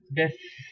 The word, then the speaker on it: dix: Number 10, you have DIX. So like I mentioned before, in 6 IX becomes ES. The similar way IX in DIX in number 10 will become this, this. Okay, this.